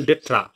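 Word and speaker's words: d'être: তো আছে রেজন ডেট্রা, ভালো করে দেখো রেজন ডেট্রা, উচ্চারণ ডেট্রা মানে হচ্ছে কোনো জিনিসের অস্তিত্বের যে গুরুত্বপূর্ণ কারণ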